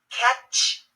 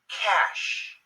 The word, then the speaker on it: cache: spoken in English so catch no cash like the cache memory on your computer champagne no champagne champagne